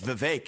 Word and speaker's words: Vivek: I say, my name's Vivek. It rhymes with cake.